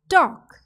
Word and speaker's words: talk: are g and h similarly in talk the silent alphabet is l very good now let's